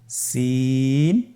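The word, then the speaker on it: سين: বাকি দুইটি হরফ নাম হল সিন এবংশিন সিন এবংশিন সিন হরফটি উচ্চারণ ক্ষেত্রে অবশ্যই তিন আলিফ টেনে পড়তে হবে সিন হরফটি বারিক হরফ পাতলা করে উচ্চারণ করতে হবে তাহলে আমার সাথে বলুন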